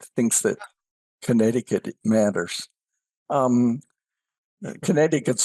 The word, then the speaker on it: Connecticut: that Connecticut matters um Connecticut's slogan is the second SE is silent I mean it's just